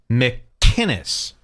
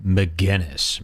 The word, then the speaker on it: McInnes: The man goes out of his way to pronounce it how it's written. McKinnis. McKinnis. And all of these losers keep saying McInness. McInness. It's a totally different name.